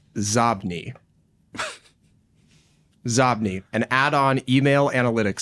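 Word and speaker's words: Xobni: This next one is an add-on email analytics service, and they are called Zobni.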